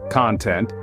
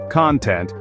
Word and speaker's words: content: a couple of examples take the word content if you stress the first syllable content it's a noun meaning satisfaction or happiness but if you stress the second syllable content it becomes an adjective meaning willing or satisfied here's another one the